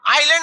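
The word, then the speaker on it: island: आइलैंड में क्या silent रहता है?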